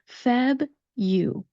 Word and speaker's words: February: Feb, you. Feb, you, the first two syllables of this word.